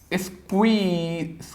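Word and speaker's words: squeeze: उच्चारण क्या रहेगा? स्क्वीज नहीं, स्क्वीज, स्क्वीज।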